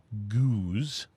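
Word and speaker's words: gueuze: it's spelled g-o-o-z but the name of the actual name goose the actual style name is spelled g-u-e-u-z-e okay gotcha okay yeah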